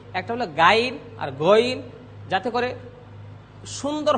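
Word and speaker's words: غين: তার গুণাবলী রয়েছে সে মোটা হরফ আমরা একটু মোটা করে উচ্চারণ করছি একটা হলো গাইন আর গইন যাতে করে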